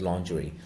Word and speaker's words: lingerie: Egypt who were selling lingering that it's not lingering it's basically lingerie so the pronunciation is Li ng RI is it's lingerie in a deeply conservative region where Egyptian families